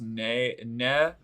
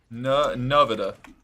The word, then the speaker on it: Nevada: It's clear I'm I like how Missouri has a town called Nevada, but it's pronounced Nevada. Nevada? Nevada? Nevada. Nevada? Nevada? Nevada? Nevada? Our enemies are here. Chin up. Nevada sounds like ciabatta.